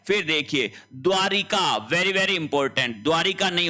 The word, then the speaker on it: द्वारका: फिर देखिए द्वारिका very very important द्वारिका नहीं होता है शुद्ध शब्द होता है द्वारका द्वारिका शब्द गलत है शब्द क्या होगा द्वारका शब्द होगा फिर देखिए घुटूना नहीं